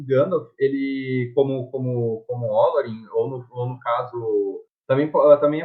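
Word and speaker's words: Olórin: Não apenas o Gandalf, ele, como Olorin, ou no caso, também a pronúncia certa pode ser Olorin por causa do acento na palavra.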